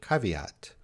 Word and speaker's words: caveat: back to oxford for this one let's get pronunciation so we see this word caveat british way caveat caveat caveat and what does caveat mean a